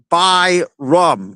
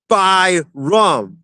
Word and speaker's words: Byram: Uh, Ken says it's Bo by rum. Bo. Okay, perfect. Thank you. Um, Callen says it's pronounced by rum.